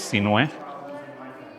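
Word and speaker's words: Sinuhe: So the correct pronunciation of my first name is Sinue.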